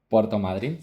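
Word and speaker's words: Puerto Madryn: Um but in a city called uh Puerto Madrin. Puerto Madrin.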